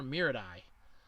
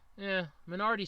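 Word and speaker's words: Menardi: I kept calling her Miradai. Minardi sounds a lot better.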